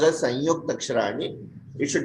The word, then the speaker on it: संयुक्ताक्षराणि: Yes, it should be pronounced as Sanyukta Aksharani. It should not be Samyukta Aksharani. Yeah. Sayukta Aksharani. Is it correct? Yes, Sanyukta Aksharani.